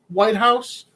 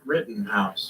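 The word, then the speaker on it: Rittenhouse: the prosecutor in the is this how to pronounce the guy's last name white house no written house written house okay i'm probably gonna butcher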